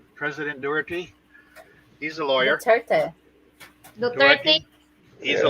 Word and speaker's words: Duterte: Doherty, is that how you pronounce it? President Doherty. He's a lawyer. Duterte.